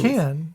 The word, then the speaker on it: Cannes: Cannes.